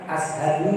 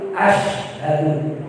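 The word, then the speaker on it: أشهد: Bukan ashadu tapi asyhadu. Ini sinnya itu pakai titik 3 loh.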